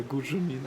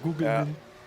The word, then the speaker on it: Gugelmin: Oh yeah, Gujelmin. Oh no, Gugelmin.